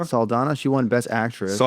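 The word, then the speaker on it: Saldana: saladan how do you say her name yeah salana salana she won best actress so I didn't watch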